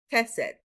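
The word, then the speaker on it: חסד: Chesed. Chesed. And you always want to make sure you have the ch sound at the beginning.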